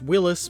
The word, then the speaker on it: Willys: I painted this Rubicon Willy's MB Jeep some say it is actually pronounced Willis but then I can't